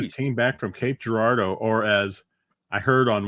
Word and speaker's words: Girardeau: But when I was watching a TV show, they pronounce it Cape Girardeau. Cape Girardeau. Huh? I'm like, it sounds fancy, but that's not how we say it up here.